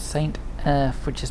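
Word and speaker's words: Erth: and saint earth and i say it's saint earth which is spelt h not the earth which is spelt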